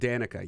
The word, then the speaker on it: Danica: Danica, is that how you pronounce it? Danica, yes.